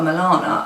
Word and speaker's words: Milana: to call her daughter Milana, I did think that is a really weird name. I wasn't sure on it, and it rhymes with banana.